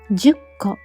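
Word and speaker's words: 十個: ほとんどの人は 10 個と読んでいます。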